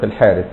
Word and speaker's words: الحارث: سال الحارث ابن كلده هو يكتبوه الحرث لكن ينطق الحارث حط بقى واحد كده